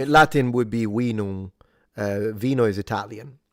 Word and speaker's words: vinum: Latin would be vinum. Vino is Italian. Latin would be vinum, with a long E sound and a nasalized M at the end, which is where you get wine with a W, by the way.